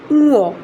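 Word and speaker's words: ঙ: অবাক হয়েছি যে একটা স্বনামধন্য একটা স্কুলে এখনও উমোই পড়াচ্ছে। তো এটা উমো না, এটা এখন হয়ে গেছে উঁয়ো, উঁয়ো। এটা উচ্চারণটা হবে উঁয়ো।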